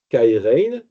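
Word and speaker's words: χαίρειν: Mais ce qui est sûr, c'est qu'il va changer un mot qui s'écrit C-H-A-I-R-E-I-N, c'est le mot qu'on a en grec, kairein, et il va prendre un mot qui ressemble beaucoup.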